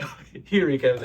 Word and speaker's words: Huereca: Marketing Manager, and Anthony Huereca. Did I say it right? Huereca. Oh, Huereca. Kind of right.